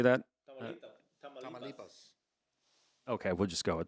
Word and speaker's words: Tamaulipas: Tamaulipas.